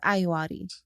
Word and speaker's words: Ayoade: I've heard it pronounced several different ways. He says Ayoade.